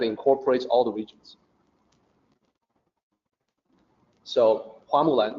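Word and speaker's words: 花木兰: Well, in Mandarin, it's actually Hua Mulan. So the actual Mandarin pronunciation is Hua Mulan. The reason why it ended up being Fa is because that's probably a variant from regional dialect.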